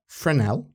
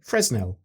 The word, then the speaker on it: Fresnel: People say it's either frenel as in silent s or fresnell.